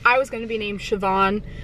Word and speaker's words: Siobhan: about it, but I was gonna be named Siobhan, spelled like S-I-O-B-H-A-N.